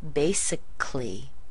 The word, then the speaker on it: basically: when you say that we don't even pronounce the a in words that have c a l l y look at words like basically or theoretically you don't hear that